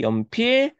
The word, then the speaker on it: 연필깎이: 같아야 달라요 가짜 그쵸 연필깎이 우리 연필깎이는 어떻게 변하는데 연필가 자 쌍기역이 받침이 나면 안 되죠 뒤에가 모음으로 시작하니까 이렇게 넘어가 줘야 돼요 자 그럼 다른 거